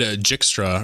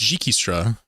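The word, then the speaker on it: Dijkstra: I said Jikstra earlier, and people were like, no, it's Jikistra.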